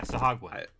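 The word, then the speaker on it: sahuagin: I just like saying sahagin sagn yeah yeah sahagn that's that's how you pronounce it I I know I agree with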